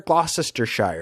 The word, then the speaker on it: Gloucestershire: Gloucestershire. It's like Worcestershire sauce.